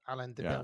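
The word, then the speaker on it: Alain de Benoist: Alain de Benoit.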